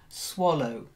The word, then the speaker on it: swallow: next one is swallow it's an oh swallow a swallow that's it one swallow does not